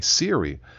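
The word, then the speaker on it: Seary: But the last name is spelled S E A R Y. Siri.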